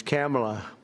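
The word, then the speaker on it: Kamla: It's Cam, right? Cam as opposed to Com."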